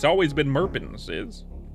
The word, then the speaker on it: Merpins: It's Merpins. What's my name? It's Murbans. [cough and clears throat] Tony, why why you asking my name? It's it's it's Merins. It's always been Merpins. Is it's Merpins.